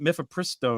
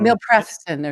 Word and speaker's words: mifepristone: How do you pronounce it? Mifepristone. Milpreston or something.